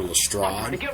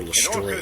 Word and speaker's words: Lestrade: name the right way most people would call him inspector lestrade but his name is actually inspector lester that you were taken